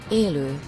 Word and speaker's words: Elo: the International Phonetic Alphabet the original name Elo Elo in Hungarian thank you Wikipedia